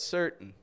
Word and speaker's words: certain: But most of the time they won't say important, but important. They won't say certain, but certain. So there are some exceptions depending on, where people come from.